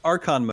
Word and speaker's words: Archon: Let's move on to Archon modes. And I guess, first of all, am I pronouncing that correctly? You are.